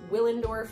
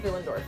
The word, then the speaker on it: Willendorf: of billingdorf otherwise known as the venus of willendorf but it's austrian and w's are pronounced like these so the venus of villendorf and i have a small replica here that